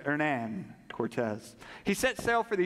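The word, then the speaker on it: Hernán Cortés: Spanish conquistador their Nan Cortez I checked that pronunciation Pastor Abner before I got started so that's how you say ernan Cortez he set sail for the Yucatan Peninsula with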